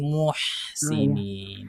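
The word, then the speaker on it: المحسنين: Bisa bukan moh, tapi muhsinin. Ulangi.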